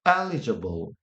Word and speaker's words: eligible: 이렇게 표시를 좀 해놨습니다 eligible 이라고 하는 발음인데 전 두 번째 작품만 강세가 가더라고요 elig 다시 기억하려고 좀 굵게 표시해 놨습니다 뭔가를 받을 자격이 있다라고